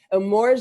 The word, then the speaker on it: Emorja: a-- first of all you gotta be able to say his name correctly right like it's a Maura Roberson that is hanging out